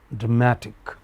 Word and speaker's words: dramatic: So, whereas this is drama stress here, this word is is pronounced as dramatic. Okay? So, stress in English also changes according to word endings.